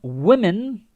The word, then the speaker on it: women: In my country, some women, remember, singular and plural. You got a singular. Okay, let's look at man and man. One man, two men. Woman, singular. Women. Like the first part changes the pronunciation.